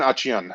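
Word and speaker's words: Achane: Couple of other guys I'm going to mention, and correct me on how to pronunciate this guy's name. Devin Achan, is that correct? Devin Achian, yes.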